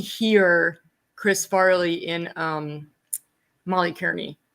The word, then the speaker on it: Kearney: Because I definitely hear Chris Farley in Molly Kearney. Am I pronouncing that right? Molly Carney, I think. Yeah. Carney.